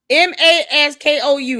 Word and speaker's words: Moscow: Candace, it's Moscow. Moscow. Maskou. That's how it's spelled to pronunciate it.